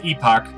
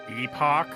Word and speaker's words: Epoch: name it's being called epoch epoch it's supposed to be it's supposed to be pronounced epic but i don't [